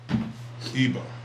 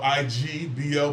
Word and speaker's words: Igbo: Igbo. IG, or it could be spelled IGBO, but the G is silent.